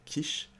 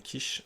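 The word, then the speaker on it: Kish: expert en la matière je parle de Daniel kich kich ça ça s'écrit K i s h si tu veux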